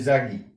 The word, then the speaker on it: Yagi: lo que se llama una antena de tipo Yagi. Así se escribe Yagi, no así, por las dudas, no, así, se lee Yagi.